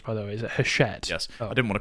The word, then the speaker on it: Hachette: Is that how it's pronounced, by the way? Is it Hachette?